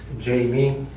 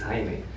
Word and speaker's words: Jaime: My real name is Jamie, but actually in Spanish it's Jaime.